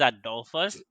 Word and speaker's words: Adolphus: relationship from there i am my name is adolfo's so you cannot say call me also